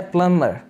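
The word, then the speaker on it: plumber: Next word है प्लम्बर। वैसे आपको बी नज़र आ रहा है, जो कि प्रोनाउंस नहीं किया जाता, बी साइलेंट है, प्लम्बर नहीं है, बल्कि प्लम्बर, प्लम्बर।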